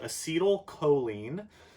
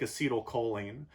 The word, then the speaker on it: acetylcholine: know by name called acetylcholine guys sometimes pronounced acity old choline but that has the a word in it so I usually pronounce it a C toll cut like you take a seat acetylcholine you have it